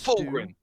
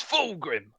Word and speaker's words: Fulgrim: there for a bit that's full ring don't say his name it's fulgrim september another slow month